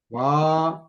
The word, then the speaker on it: वा: Va. You have to pronounce Va. it long. Agacchati va. Try to habituate to prolong long words long, short words short.